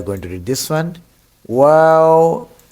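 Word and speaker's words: واو: Wow, you have to um, circle your lips to pronounce it correctly. Wow, wow, round. Your lips should be round.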